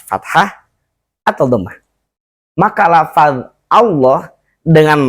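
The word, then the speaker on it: الله: atau dhomah maka lafal Allah dengan lamnya lamnya itu harus dibaca tebal Bagaimana tebalnya itu bunyinya menjadi lo bukan lo dengan bibir monyong ya tapi lo Bagaimana cara membunyikan huruf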